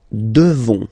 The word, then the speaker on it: devons: Nous devons. Okay? Classic ending ONS for nous. Okay? You just pronounce this on, this nasal. Okay? And then the S, final S is not pronounced.